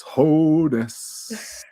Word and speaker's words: Hoeneß: Pronunciation. Yeah. Keith. It's Hoeneß.